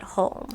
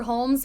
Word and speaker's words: Hulme: can't pronounce anything correct is h-u-l-m-e so holmes probably there's os there's no s but holm interesting okay or as one girl on youtube called it hume just stay home i